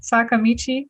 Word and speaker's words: Sakamichi: Today I have Matthew Boynton of Sakamichi Brewery.